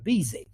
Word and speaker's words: busy: others that are exceptions for example in the case of short usually it's the letter i but it could be the letter e like pretty or it could even be the letter o like in women or it could be the letter u as in busy so these pages will